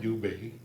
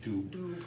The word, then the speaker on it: Dubé: It's Michael McLeod, Carter Hart, Dylan Dubé. Of course, he's French, so can't just call him a Dube.